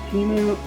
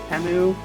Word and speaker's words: Temu: of like wish or teu I keep pronouncing it teu even though like the Super Bowl commercials is temu um so anyway so